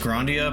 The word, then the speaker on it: Grandia: I think it's technically pronounced Grandia, but you say anime?